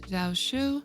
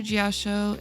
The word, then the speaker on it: Jiaoqiu: For version 2.4, we are going to be having Yunli, and I believe his name is pronounced Jiaoqiu, and one of the reruns will more than likely be Huahua, since we actually haven't gotten a rerun for her yet.